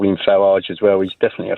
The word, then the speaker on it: Farage: says can you please stop calling them the farage riots it makes me so Ang angry it's pronounced farage you make an excellent point Christian my apologies